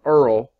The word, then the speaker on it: URL: seo best practices regarding urls are earl like duke of earl but it's spelled url for uniform resource locator